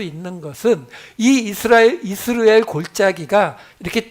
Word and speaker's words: 이스르엘: 이스라엘이라는 이름이에요 그냥 우리가 우리 한글 성경으로 보기에는 이스르엘 이렇게 나오니까 이스라엘의 사촌쯤 되는 거 같이 느껴지지만 실제 히브리어 발음은 이즈라엘 이렇게 되기 때문에 달라요 근데이 이스르엘이라고 하는이 단어의